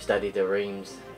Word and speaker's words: Stade de Reims: But Stade de Reims, that's how you say it.